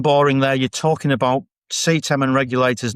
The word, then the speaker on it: CTEM: So, there it is, CETEM has a silent D, it's CETEM.